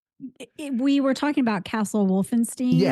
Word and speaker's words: Wolfenstein: I was corrected that it's Castle Wolfenstein, not Steen.